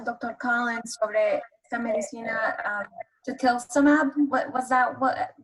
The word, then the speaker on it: tocilizumab: Collins sobre esta medicina, tocilizumab, what was that, what pronunciation?